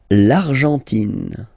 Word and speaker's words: Argentine: L'Argentine. Okay, so you've got this nasal here, en, l'argent, and then tin. Don't pronounce the final E, it just gives you the pronunciation of the N, in.